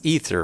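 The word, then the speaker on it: Aether: Because it's Ether, right? His name is pronounced Ether.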